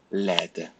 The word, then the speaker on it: laide: But look at laid, laide. You pronounce the D and you add an E in the as you write.